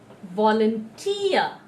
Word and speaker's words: volunteer: from the right hand side, on the third syllable. So it's every day. Repeat after me. Every day. Cigarette. Cigarette. Volunteer.